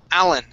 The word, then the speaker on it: Alan: Okay, it's Alan. Alan. Alan. Okay, nice and quick. Stress at the beginning.